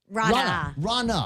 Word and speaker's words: Rana: I wanted to welcome Rana. That's okay. See, no, I'm the guy that's been telling everybody for the last couple of days it's pronounced like Ronald Reagan. It's like Donna with an R.